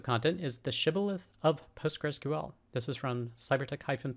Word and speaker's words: PostgreSQL: postgres community and really how to write and pronounce postgresql and the way to do it you can